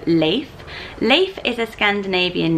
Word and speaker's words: Leif: for a boy, whereas the pronunciation of Leif, which is the Swedish way, is much more masculine but still has that cool nature sound to it.